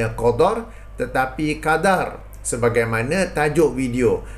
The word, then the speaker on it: Qadha: DD dan juga Dal maka sebutan yang betul ialah Qadar dan Qada ya bukannya Qadar Qadar dan Qada ha okey ah baik jadi